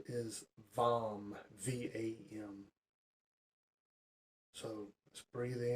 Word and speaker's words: VAM: Its sound is VAM, V-A-M.